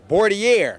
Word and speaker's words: boudoir: Pronounce this word. A boudoir.